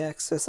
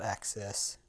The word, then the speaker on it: excess: Get all the excess I can. Excess, not access.